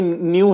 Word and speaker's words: nu: होगी, तो वो NH म्यू के फॉर्म में होती है। NH न्यू के, ये म्यू नहीं है, सॉरी, न्यू है, न्यू, NU न्यू, इसका प्रोनाउंसिएशन न्यू है, NU।